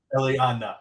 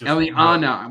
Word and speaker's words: Eliana: Eliana. Just Eliana. Why do I keep adding an I?